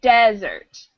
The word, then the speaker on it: desert: and it's very dry that's desert with an a stress on the first syllable desert but the sweet